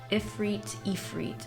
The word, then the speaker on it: Ifrit: Ifrit is how Yeah. you pronounce it.